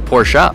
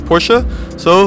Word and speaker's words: Porsche: is it Porsche or porschea now if you just read the letters it is Porsche but it's Ferdinand Porsche's name and his family pronounced it Porsche so there we have the